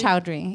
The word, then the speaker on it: Choudhury: It's Choudhury.